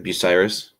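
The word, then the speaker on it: Bucyrus: or sorry north of uh how do you pronounce that city name the be Bell Fontaine nope in Crawford County it's like buyus yeah they you got it perfect um if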